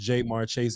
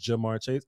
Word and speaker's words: Ja'Marr Chase: tired of people telling me that it's not pronounced J marches it's pronounced Jamar Chase I don't care Trey Diggs name for about